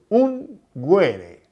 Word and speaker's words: unguere: Yo busqué en el diccionario y la palabra ungir viene del latín unguere, así como lo pronuncio, unguere, con G de gato.